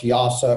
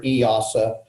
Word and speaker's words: EASA: it's also covered under easa which is most people pronounce yasa or eosa and that's that's the